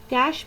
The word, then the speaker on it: cache: Cache memory, which is pronounced as cache, as you can hear, a special high-speed storage mechanism.